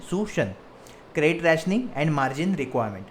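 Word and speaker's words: suasion: तो moral सुशन, okay, इसका pronunciation है सुशन, credit rationing and margin requirement.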